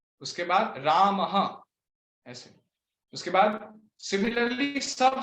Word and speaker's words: रामः: जैसे रामः में राम अ है तो रामः। हाँ यस माता जी, रामः में अकार है लास्ट में, इसके वजह से रामः बोलेंगे, ठीक है? विसर्ग में भी ऐसे प्रोनाउंस होना चाहिए, रामः।